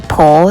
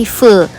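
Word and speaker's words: Phở: nyari-nyari tempat makan ini Pho 10 bacanya itu bukan Pro tapi full 10 nah ini tempat makan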